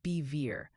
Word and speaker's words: Bevier: Bevier mo is pronounced bever like bet minus the t.